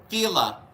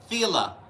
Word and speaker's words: Fela: My name is rhymes with Sheila. Fela Fela.